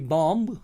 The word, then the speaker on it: bomb: या BOMB, बॉम्ब, ये बॉम्ब नहीं है, इसको बी इसका साइलेंट किया जाएगा, ओमिट किया जाएगा, यानी कि लिखने में आएगा और पढ़ने में नहीं आएगा, बॉम्ब।